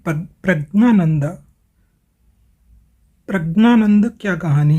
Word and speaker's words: प्रज्ञानंद: तो देखिए, प्रज्ञानंद जो है, इनका जो विशुद्ध नाम है ये तो प्रज्ञानंद ही है, यानी कि ज्ञ से ज्ञानी वाला जो होता है, ज्ञ का उच्चारण जो है, शुद्ध उच्चारण जो संस्कृत में होता है वो ज्ञ होता है, ज और न, आधा ज और न।